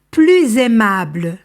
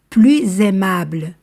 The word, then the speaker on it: plus aimable: l'adjectif commence par consonne plus aimable ici je fais la liaison parce que l'adjectif commence par voyelle plus aimable plus heureux ici aussi